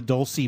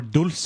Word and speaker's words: Dulce: Well, the people that are listening probably know what we're talking about when we talk about the Dulce Base, or Dulce, if you want to pronounce it properly.